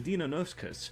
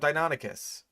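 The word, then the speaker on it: Deinonychus: However, the Donoskus was Donoskus. Bro, you have two pronunciations that I will accept, right?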